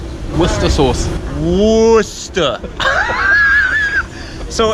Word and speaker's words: Worcestershire: say what's the sauce Worcester so it's not it's Worcester and not Worcestershire like it looks like once again what's the